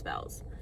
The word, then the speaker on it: Belle's: I'm going to say it wrong. Bells. I'm pretty sure it's Belle's. It looks like Beiel, but it's Belle's.